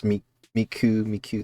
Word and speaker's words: Miku: It's pronounced me, and then 9. I don't remember the kanji for 9. I think it's just like this, like, and it's pronounced Q, so it's Miku.